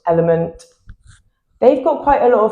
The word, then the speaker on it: LMNT: Pretty sure it's meant to be pronounced element.